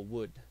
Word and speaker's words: would: utilizar el auxiliar W que se escribe W pero la o y la l No la vamos a decir entonces quedaría algo así como Wood Okay lo que hace